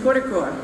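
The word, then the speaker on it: Kozhikode: Specifically, I think I heard the correct pronunciation, Kodikor, right?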